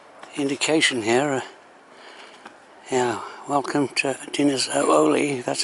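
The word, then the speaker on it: Dinas Oleu: Welcome to Dinner's Ooli. That's how you pronounce it.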